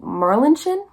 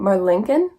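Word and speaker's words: Marlinchen: look up different pronunciations some people are saying saying Merlin chin just fine I think in my brain I was kind of reading my Lincoln it's m-a-r-l-i-n-c-h-e-n so this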